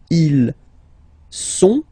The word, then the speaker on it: ils sont: Okay, ils sont, final T not pronounced, ils sont, elles sont.